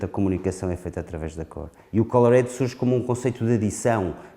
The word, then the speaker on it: ColorADD: ColorADD describes a concept of addition. Phonetically, is sounds like "coloring".